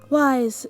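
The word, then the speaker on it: Wyse: brown curly hair named spelled with a white like w-y-s-e wise is on the autism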